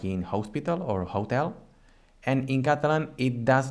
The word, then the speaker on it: hotel: So in English it has the H sound, like in hotel, but in Catalan, for example, we say hotel. So this letter, it doesn't sound in Catalan.